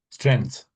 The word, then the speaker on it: strength: So, so is this is the E you're meant to like give a bit of emphasis to and strength.